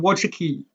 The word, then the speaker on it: Wojcicki: let's get back to susan watshiki i think that's a more correct pronunciation of her name when i found her